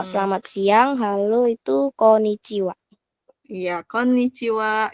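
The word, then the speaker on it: こんにちは: siang Halo itu Iya kon chiwa gitu ya double end ya untuk pelfalannya Oke Kak Damaris kayaknya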